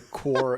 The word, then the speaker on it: Corps: movie called Hardcore, where the core is spelled like Marine Corps, like CORPS.